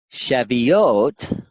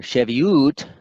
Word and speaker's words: Shavuot: Strong's and then seventh we have Chevy oat or Chevy ute depending on your vowel pronunciation this is 7637 and